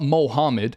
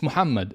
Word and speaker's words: Muhammad: Like it's not Mohammed, it's Muhammad.